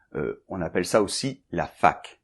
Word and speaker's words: fac: On appelle ça aussi la fac. Oui, je sais, ça n'a pas un son très agréable pour les anglophones, mais ça s'écrit F-A-C.